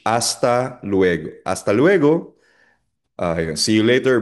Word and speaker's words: hasta luego: Hasta luego. Again, silent H. Hasta luego.